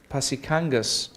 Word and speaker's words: Pasikangas: No, but as far as I'm aware, you just pronounce every letter as it's written in Finnish.